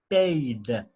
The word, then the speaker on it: paid: attention to this verb it's irregular paid it's pronounced paid with with no without eddie this is irregular